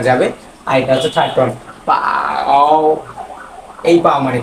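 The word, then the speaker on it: 饱: উচ্চারণ কিন্তু সেম কিন্তু টোনের কারণে উচ্চারণ হবে আলাদা এটা হচ্ছে ফারস্ট ফ্লাট আকারে যাবে আর এটা হচ্ছে থার্ড পাও এই পাও মানে কি?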